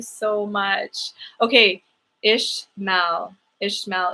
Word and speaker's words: Ishmael: much okay ish mao ishmael is how you would say it pronounce it like intense and pronounce it like it has an age ishmael okay i think that's